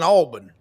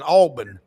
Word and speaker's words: Auburn: He said, "Ain't none of us bigger than Alburn." I don't care who you are. None of us bigger than Alburn. That's how they say it in South Alabama and South Georgia.